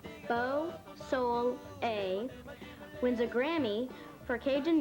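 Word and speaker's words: Beausoleil: mike dusay and his band beau soleil pronounce beau soul a wins a grammy for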